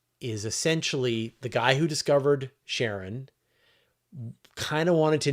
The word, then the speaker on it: Charon: And so the pronunciation that Alan Stern uses is Sharon, which is the same pronunciation that Christie uses, the guy who discovered it.